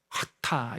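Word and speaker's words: חטא: 구약성경에 언어로 죄라는 단어는 여기 구개음이 목청에 나오는 발음이에요 하 하타 이렇게 불러요 하타 그리고 신약 성경의 언어로는이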